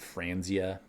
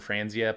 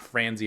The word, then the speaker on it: Franzia: and maybe it wasn't Franzia please don't come after me I saw the photo at a glance so it's not frenzy it rhymes with ranzia I don't know but